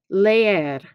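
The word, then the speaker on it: leer: next activity is now it's not lear you have to pronounce both of those e's leier okay muy bien the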